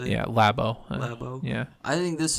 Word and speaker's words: Labo: Yeah, Labo.